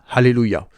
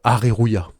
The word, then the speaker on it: Hallelujah: du nom du magasin le L en japonais n'existe pas et le r se prononce c'est un r liquide qui se rapproche du L ce qui nous donne bien alléluia et non pas arrêt Rouya voilà ce qui a